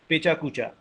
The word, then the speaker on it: pecha kucha: two Japanese words which are written, which are pronounced in English as pecha kucha.